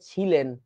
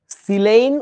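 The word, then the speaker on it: silane: না ছ দিয়ে লেখো না তাহলে বলবা যে ছিলেন কলাটা ছিলেন তারপরে বলবে এবার গিলেন তারপরে বলবে এবার সরেন তারপরে বলবে আর কি কিছু পাবেন তোমরাই তামাশা করবা এইটা করিও না বুঝেছো ছিলেইন উচ্চারণটা দন্তস দিয়ে ছ দিয়ে না ছিলেন গিলেন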